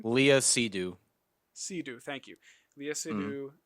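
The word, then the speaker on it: Léa Seydoux: you know uh sidu is that how you pronounce her name Leah sidu sidu thank you Leah sidu George McKay phenomenal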